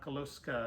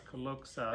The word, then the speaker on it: Koka: pronounce wrong Koka yeah it's not kosa it's Koka I'm working on it